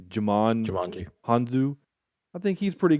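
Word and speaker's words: Djimon: pronounce his name but jamon maybe the d is silent like django so it would be would be jamon hanzo i think he's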